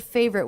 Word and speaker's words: favorite: I also noticed that the word favorite was pronounced with only two syllables as if this letter was dropped save read favorite favorite this is my favorite breakfast I'm also noticing this tea pronunciation the final tea in favorite was pronounced as a stop favorite favorite favorite breakfast so there was no release of the T sound favorite breakfast let's listen